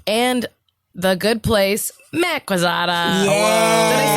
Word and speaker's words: Quezada: He is a producer on Veep and The Good Place, Matt Quezada. Yeah. Did I say Quezada right? You did. Okay. You said that pronunciation right. Wait, you say it then. No, yeah, Quezada. Quezada.